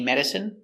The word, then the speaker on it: medicine: Stress on the first syllable.